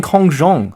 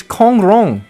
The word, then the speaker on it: Kong Rong: help with Kong wrong why does he keep saying Kong Jong Lord Kong Lord Kong Jong Zade where's the Z it's Kong Rong what is going on here I don't understand am I am I not understand the pronunciation here if Kong wrong should be Kong wrong not Kong Jong right every single charact